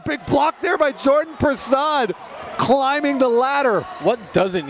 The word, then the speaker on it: Prasad: You know, when you hear that last name, you automatically assume that there's a U in it. Oh, yeah, because most of the time it's spelled like that, but it's Prasad.